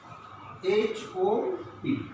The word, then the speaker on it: hop: The pronunciation is hop. That means O. In this word, O is being pronounced hop. That means straight, not narrowly, but in this word, O is pronounced hope.